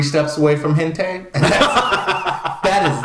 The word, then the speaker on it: hentai: I don't want that to be part of, because that's what 3 steps away from hentai.